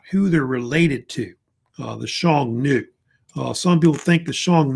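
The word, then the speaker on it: Xiongnu: a group called The Shong new which uh the pronunciation of it is um I think I put it somewhere thought yeah right here Shong and then new basically they're like a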